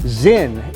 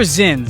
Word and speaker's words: Zyn: Zyn is taking over the market. It's Z-I-N? Is that how you say it? Z-Y-N. Z-Y-N? These are Zyns, small, smokeless packets that deliver nicotine without tobacco.